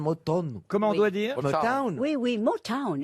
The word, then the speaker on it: Motown: Comment on doit dire Motown. Oui, oui, Motown. it's Motown, Motown. oui, je dis bien Motown. Oui, oui, oui. Les sanglots longs de Motown. Ouais. Town, you know, you have to pronounce Motown.